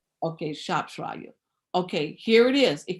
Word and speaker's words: Shropshire: So when you're looking at the records of that last name of Alita Shropshire, I don't know how you pronounce that name. Shropshire. Okay, Shropshire.